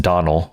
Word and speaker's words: Domhnall: It looks like Domhnall Gleeson, but it's actually pronounced Donald Gleeson.